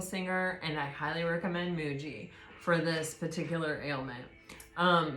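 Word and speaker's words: Mooji: And uh you know again if this is you I highly recommend Michael Singer and I highly recommend Muji for this particular ailment. Um Muji is spelled M O O J I.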